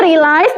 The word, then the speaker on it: realize: Sri realized that her wallet was missing. Itu yang di paragraf kedua ya kan. Cara bacanya itu realize. Realize ya, bukan realis tadi ya bilangnya. Bukan realis, tapi realize.